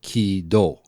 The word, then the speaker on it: KID: So if you put ki, shu, hu, do, you get ki-do if you cram them together. If you cram it, yeah. Kido. So the Japanese pronunciation when we say kid is actually kido in Japanese.